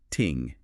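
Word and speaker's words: 聽: And on that listening part, the source material highlights this really beautiful detail about the traditional Chinese character for listening, which is pronounced ting.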